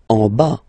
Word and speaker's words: en bas: En bas, final S not pronounced. En bas, en bas.